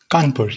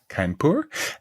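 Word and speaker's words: Kharagpur: India Institute of Technology in how is it pronounced kpur kpur yes kpur and in Germany University of and as all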